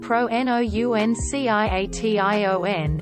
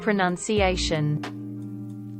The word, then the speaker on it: pronunciation: you think it is someone saying pro-n-o-u-n-c-i-a-t-i-o-n instead of pronunciation in Turkey the language